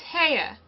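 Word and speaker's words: Haigha: happy his name is ha he pronounced it so as to rhyme with mayor I love my love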